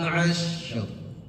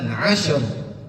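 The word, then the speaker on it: عشر: Wal fajr wayalin asr. Bukan asyr. Kalau asyr berarti huruf synya memiliki sifat qalqalah, mantul. Yang namanya mantul kan langsung kayak kita mantulin bola. Dek dek, asyr itu mantul namanya. Qadr mantul. Tapi kalau wayalin asr itu mengalir namanya mengalir. Huruf syin memiliki sifat rakwah namanya.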